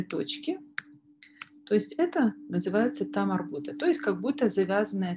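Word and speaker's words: تاء مربوطة: То есть имеется в виду одна из букв, которая пишется схоже с буквой Г, но при этом при слитном чтении читается как буква Т.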